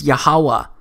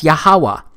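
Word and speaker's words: יהוה: wh it's pronounced as yahawah because it turns out that the language was so simple back then that it vocalized each consonant with an a sound without specifically marking that sound between consonants so this YH wh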